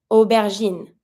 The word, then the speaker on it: aubergine: the sound O, but the A-U without the E, just A-U also makes the sound O. So we're also not going to be pronouncing une aubergine.